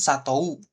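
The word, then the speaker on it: さとう: Kan satou, ya kan harusnya bacanya satou. Tapi untuk percakapan sehari-hari bilangnya sato gitu. Sato O-nya aja ini panjangin. U-nya nggak usah dibaca U. Jadi O-nya yang panjang. O dari to-nya itu. Nah, seperti itu ya.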